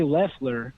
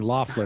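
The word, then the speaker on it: Loeffler: saw this man it blew up yesterday kelly lefler and that is how you say her name oh i've been saying laughter for a long time not that i care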